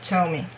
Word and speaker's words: Zhou Mi: So ZH means ch, like in Heechul's name,